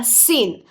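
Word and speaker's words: scene: follow by the sound N यह बन गया सीन सो सी ई एन बिकम सीन अब देखेंगे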